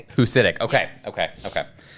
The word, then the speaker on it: Husidic: Um, so the end the C at the end is actually a cha, so it's ditch.